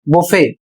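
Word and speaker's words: buffet: अगला शब्द है बी यू एफ एफ ई टी अर्थात बी U double F ई टी इसे पढ़ा जाएगा बुफे और इसका अर्थ होता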